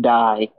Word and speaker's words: Dai: If you ever watch like anime or cartoons that have anime themes, day can also be pronounced die, like may and my.